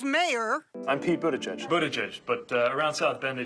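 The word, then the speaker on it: Buttigieg: Bend Indiana 'he's mayor i'm people to judge buddha jesh but around South Bend they just called me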